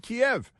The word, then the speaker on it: Kiev: say out of Kiev which isn't called keev it's called Kiev and don't uh steal a syllable from from Kiev it's not ke it's Kev and uh the associated